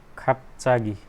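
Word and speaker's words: 갑자기: र यसको उच्चारण चाहिँ के हुन्छ? ठिक छ, आधा प यो चाहिँ खाप्चागी।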